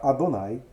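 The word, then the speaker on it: אדוני: ao se ver ou ao se ler o tetragrama nós devemos pronunciar adonay né nem eu já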